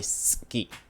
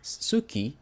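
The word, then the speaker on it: 好き: the thing you may you may hear Suki in many occasions but it you shouldn't pronounce it pronounce it like that ski so this one is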